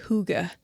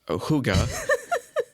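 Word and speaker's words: hygge: sure how to pronounce spelled h y g g e and it's a Danish word okay um but yeah I guess you're supposed to say Huga okay Huga you mean I'm supposed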